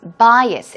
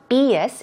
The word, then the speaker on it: bias: getting rid of something what about bias bias it's not BS its bias bias very similar to prejudice